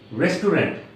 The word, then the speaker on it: restaurant: movie was very interest interesting not interesting guy restaurant covered hotel cobalt Okinawa Johnny Umbra believe the